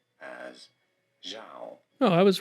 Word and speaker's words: Zhao: this is usually said as Zhao. Oh, I was right in the English Oh, pronunciation.